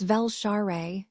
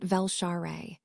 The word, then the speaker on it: Velshare: Colonel, your pronunciation is adequate, but you placed the stress on the wrong syllable of my name. It's Velshare, not Velshare.